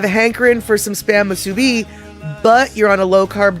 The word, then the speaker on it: musubi: Okay, so it's musubi, not musubi. Well, you know, everybody says it different, man. I gotta fix the pronunciation. It's musubi.